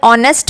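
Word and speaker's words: honest: अब यहां पे देखिए एच से स्टार्ट है यह वर्ड लेकिन एच की साउंड यहां पर नहीं आ रही है हम इसे ऑनेस्ट पढ़ते हैं तो एच is silent in this word है ना तो हमें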